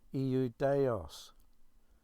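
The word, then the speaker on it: Ἰουδαῖος: Now, there's another Greek word, Iudaios, 4 syllables, Strong's Concordance reference G2453.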